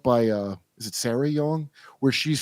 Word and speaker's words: Jong: poet named uh Susan Jong or something Jong y it's pronounced Yong okay she's famous her